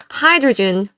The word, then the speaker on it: hydrogen: Hydrogen fuel cell cars seem like the perfect solution. 네요. 수소 발음 다시 들어보세요. 하이드로겐이 아니에요. Hydrogen Hydrogen, 윗입술 올리세요.